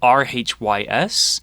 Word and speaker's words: Rhys: It was spelled R-H-Y-S. Oh, like John Rhys Davies. Exactly. There's a lot of Reeses in Wales.